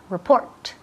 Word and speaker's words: report: Report. Report. El énfasis cae en la segunda sílaba. Report. Report. Y aquí escuchar la T al final.